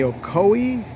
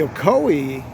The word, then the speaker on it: Ocoee: Carolina and found the okoi lake and okoi river here here's the okoi dam and it's spelled ooc c o e e figuring it's ooi there's a little island